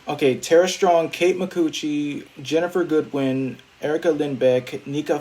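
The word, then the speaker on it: Micucci: I've had Sarah Strong, Kate McCucci. Yes, that is how her name is pronounced.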